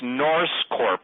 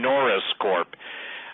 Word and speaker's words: Norse Corp: It's Norse Corp. I will spell it. Everybody thinks I'm saying Norris Corp.